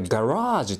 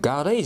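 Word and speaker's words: garage: 場車庫ですね車庫のこと英語でガラージュ」っていうのガレージじゃないんだよ発音気をつけ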